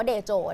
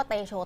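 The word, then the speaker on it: តេជោ: ตา สนาม มรดก เดโจ ซึ่ง ออก เสียง ที่ ถูก ต้อง ที่ ชาว กัมพูชา เขา บอก เนี่ย ต้อง ออก เสียง ว่า เดโจ นะ คะ แต่ ว่า เรา ก็ เรียก ว่า เตโช เตโชว์ โจม ตี ปาก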